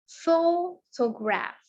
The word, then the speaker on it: photograph: Menurut petunjuknya photograph itu kita cukup menekankan pada ini ya, pada suku kata pertama yaitu pho. Jadi photograph, jadi kita sebutkannya photograph, photograph, photograph.